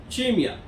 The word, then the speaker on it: CIMEA: It's CIMEA, but it is pronounced as CIMEA.